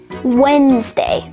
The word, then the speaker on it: Wednesday: handsome sandwich and wednesday in all four of these words the d sound is completely absent because the d is silent however just like the